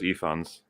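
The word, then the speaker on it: Ifans: As far as I know, is Efons.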